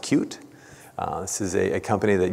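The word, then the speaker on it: Qt: this and that is the technology from the cute company it's spelled cutie it's pronounced cute this is a company that years ago is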